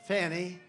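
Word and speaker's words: Fani: after another you had fonnie f a n i which is usually pronounced Fanny she added a little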